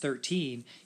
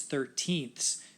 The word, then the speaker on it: thirteenth: just pronounced like seven but this is not pronounced thirteen its thirteenth which means you're dividing something up into thirteen